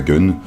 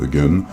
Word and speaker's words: Gunnm: Il y a des gens qui prononcent ça Gun, d'autres Gum, d'autres encore à la japonaise, à savoir Ganmon. Bon, de toute façon, ce